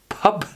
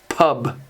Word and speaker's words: pub: on this consonant and make it almost like more of a p sound than a bee like pup do you guys do that pup i'm not sure the correct pronunciation would be pub pub for that word other examples of this